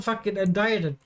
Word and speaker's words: indicted: didn't spell how you they didn't change how you pronounce it so it's still UND died even though it's indicted in the spelling it's so [ __